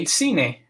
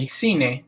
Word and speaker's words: cine: Now, if it's followed by one of the soft vowels, E or I, it's pronounced like el cine, so almost like an S in English. El cine, which means the movie theater.